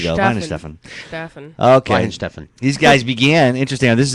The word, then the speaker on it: Weihenstephan: Say- Weihenstephan. Weihenstephan Hefeweizen. I There don't you think go. that's a pronunciation.